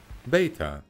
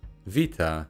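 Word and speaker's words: βήτα: sound that babies make beta vita in modern greek but ancient people pronounced it more like english speakers do now that is to say with a hard b if you want to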